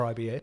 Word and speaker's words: RIBA: So the winner for the Royal Institute of British Architects, RIBA or RIBA, depending how you say it, has the Hackney School of Food as the winner for the Stephen Lawrence Prize.